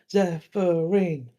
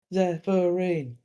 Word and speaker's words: Zephyrin: Like because it's a 3-syllable, like Zephyrin, Zephyrin.